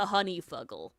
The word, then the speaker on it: honeyfugle: TTRPGs really like to honeyfugle. It's spelled how you think it's spelled, Annie. Honey. And then f u g- l e honey and fuggle as one word like muggle but with an s.